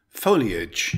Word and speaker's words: foliage: Foliage, it's a noun with three syllables. Stress the first syllable.